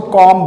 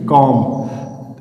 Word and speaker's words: comb: इसमें B silent होता है, बी साइलेंट होता है तो क्या हो जाता है, COMB कॉम्ब, THUMB thumb, BOMB बम, DUMB डम। तो यहाँ पे क्या हो रहा है, टोटली बी साइलेंट हो रहा है, बी का कहीं पे प्रोनाउंसिएशन आ ही नहीं रहा है, क्योंकि लास्ट में देखिए